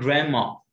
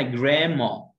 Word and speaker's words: grandma: طيب عن جده اسمها grandma، خد بالك من الدي هنا في الامريكان اكسنت، ما بنطقهاش، ما اقولش جراند ما، grandma، لكن في البريتش بنقول جراند ما.